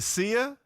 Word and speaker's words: Sia: this pronunciation right okay is it Sia it is and I get shoot